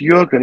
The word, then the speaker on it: Jürgen: Okay, so Jürgen, it's pronounced Jürgen, even though it's got a J, because I'm assuming he's German or North European.